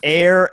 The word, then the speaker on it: Eyre: add on to that, it's air as in air, AIR. They know that. You know that. Anyone who's read Jane Eyre knows that.